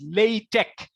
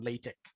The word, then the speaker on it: LaTeX: me okay now what is latex actually it's pronounced as latex latex as you saw in the bridging slide